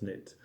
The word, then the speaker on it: knit: I can't knit, but I can tell you about the pronunciation of the verb to knit.